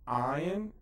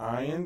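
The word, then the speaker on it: עין: and next one is the ion which is kind of pronounced in the back of the throat by sephardic speakers iron and the sadie okay the ion the the vertex the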